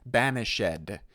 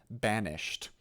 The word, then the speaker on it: banished: chances are pretty good you have to say banished instead of banished why does he do